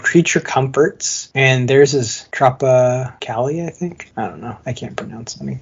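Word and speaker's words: Tropicália: Comforts and there's his Tropa Cali I think I don't know I can't pronounce anything it's Tropic and then a with the accent l i a tropicali tropicali what kind of beer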